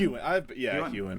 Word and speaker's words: Huan: Is it Huan? Huan.